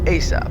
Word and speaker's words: ASAP: to answer a question asap pronounced asap an acronym of as